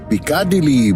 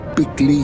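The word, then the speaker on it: Piccadilly: আমাদের হোটেল যেখানে, সেটার বানান দেখে পিকাডিলি বলতে ইচ্ছা করলেও আপনি যদি পিকলি বলেন তাহলে ওখানকার সাধারণ লোকে বুঝবে আরো সহজে। পিকলি সার্কাস।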